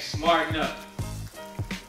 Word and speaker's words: SmartNup: on your social media accounts, use the hashtag #SmartenUp. The hashtag is what? SmartenUp. And it's spelled smart, the letter N, then up.